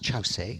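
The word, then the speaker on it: Kyaukse: Jeff see it's it's spelt cukes a but pronounced Chau say and chassis is what I'll call it all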